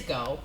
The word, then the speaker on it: Geaux: Geaux. It's go. It's just go.